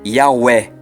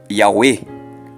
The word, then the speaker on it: Yahweh: Então, o Ru se transforma em U. Daí a fonética ficaria assim: Yahweh ou Yahweh, com sotaque diferente.